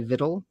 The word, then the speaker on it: victual: weird word that's like spelled like victual that you sp that you say vittle viens all right i'm